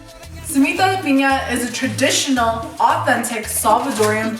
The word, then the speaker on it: piña: samito Pina is a traditional authentic Salvadorian bundles it but that's part of this bundles it is the pineapple which instead --is-- is pronounced pina if you have family members so most popular